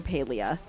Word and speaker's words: Palia: Um, and like I always play Palia at least one day a week because I love Palia so much or Paleia I think is technically how you're supposed to say it.